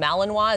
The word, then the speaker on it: Malinois: Okay, so obviously this type of dog, the Belgian Malinois, is that right?